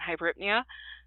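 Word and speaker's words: hyperpnea: to say them but I was taught braid apnea tachypnea and hybrid Nia so that is how I teach my students pronounce these words so somebody if you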